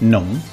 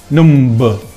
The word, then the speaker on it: numb: very angelic in english when you find a word that finishes with mb we don't pronounce the b for example climb comb num bomb when mb is